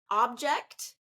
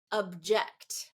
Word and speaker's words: object: shift that happens okay another example object object okay object a noun first syllable stress object second syllable stress verb okay super interesting and